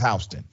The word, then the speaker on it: Houston: It's spelled Houston, but it's Houston.